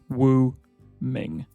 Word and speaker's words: Wu Ming: on this list, but this one is slightly easier for English speakers than Ling Xue, and that is Wu Ming. Exactly how it looks, Wu Ming.